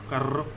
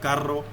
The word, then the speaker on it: carro: is pronounced as carro, carro. You need to move your tongues toward upper side of your mouth and then vibrate your tongue to make this sound carro, carro.